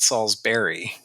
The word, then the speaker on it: Salisbury: strong here so so if you are local you would probably pronounce it saul's berry like we try to we try to up the class a little bit and we say salisbury anyway the point is